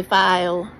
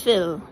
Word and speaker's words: Phil: Oh, his restaurant is called Phil Restaurant. Or some people say file, but it's Phil.